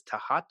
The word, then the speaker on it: Thoth: about initiation and uh thoth and i guess the pr proper pronunciation is tahat oh is it oh because i said some people say those some people say toth and and one of the egyptian guys says is tahat i said okay and